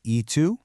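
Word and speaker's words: y tú: That's pronounced eu and it just means and you.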